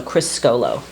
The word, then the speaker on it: Criscuolo: say Chrisco like Crisco oil and then Crisco and then low so krisolo I always say chis solo I know it's fine